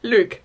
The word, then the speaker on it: Luke: auf Seite 8 belehrt, dass ich Luke die ganze Zeit falsch ausgesprochen habe, weil Luke. 3 Buchstaben, kein Nachname und ausgesprochen wie der englische Name Luke. Ja, ich habe ihn bisher immer Luc genannt, weil L-U-C ist für mich so französisch und man spricht es französisch aus, also Luc.